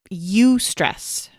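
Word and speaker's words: eustress: negatively impacts us but the other kind is you stress it's spelled e-u-s-t-r-e-s-s if you want to go Google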